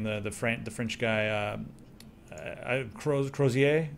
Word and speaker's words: Crozier: Crozier, is that how you say it? C-R-O-Z-I-E-R, Crozier.